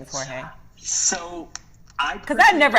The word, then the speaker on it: Jorge: the crazy thing it's people correcting me how to say my name so like with my family like i grew up in the dominican republic so i just go by jorge which is my name